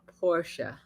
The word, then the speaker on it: Porsche: said you had a Porsche Porsche it is two two syllables Porsche uh uh 911 uh convertible Yep.